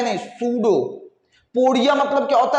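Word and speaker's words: pseudopodia: सूडोपोडिया, सूडोपोडिया। P silent होता है, पी क्या होता है? साइलेंट।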